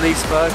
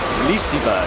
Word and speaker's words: Liseberg: hello and welcome from Liseberg that's how you say it apparently I was sorting to Leesburg but it's a short Sandra says it's Liseberg Sweden for the first